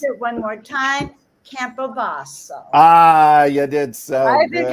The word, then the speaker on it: Campobasso: I think you all ought to take a peek tomorrow at Craig's event, and I'm going to pronounce it one more time: Campobasso.